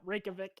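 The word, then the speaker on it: Reykjavík: her how to pronounce reykjavik yeah reykjavik yeah rake yeah vic yeah because if i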